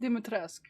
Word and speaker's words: Dimitrescu: Capcom says it's supposed to be pronounced Dimitrescu, really.